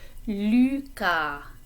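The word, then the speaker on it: Lucas: or i am called lucca so two things that you learned about before with pronunciation the french you is in this name not but the s is silent okay so let's try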